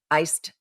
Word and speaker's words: iced: Because in just kind of a normal conversational English, we don't pronounce the D in any of these cases, because if we did, our speech would sound really halted. Iced tea.